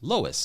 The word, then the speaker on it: Lois: um all right uh Lois Lois like Lois Lane got it I think